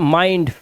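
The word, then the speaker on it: mind: जैसे आई के बाद एन डी है तो माइंड फाइंड बाइंड और एल डी लगा हो तो चाइल्ड वाइल्ड है ना तो आई के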